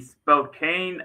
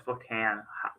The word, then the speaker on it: Spokane: Based off of the silent e. Yeah, I teach first grade. I know this stuff. Based off the e at the end, it's making the a say its name. The mama e. So, it phonetically Spokane, but I'm not going to say that it's officially Spokane because Louisville is not phonetically correct.